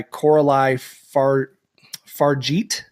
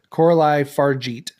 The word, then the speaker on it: Coralie Fargeat: It's a French film, rape and revenge action horror film, written and directed by Coralie Fargeat, I believe is how you pronounce her name. It's French. Coralie Fargeat.